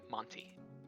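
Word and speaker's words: Manty: a n t y Monty yeah listen I know that it's spelled differently but it's Monty with an o oh 100% it is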